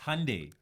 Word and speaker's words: Hyundai: the whatever it's all family Run is it Hundai it's Hyundai Hyundai it's Hundai it is it pronunciation trying to sound a bit more Korean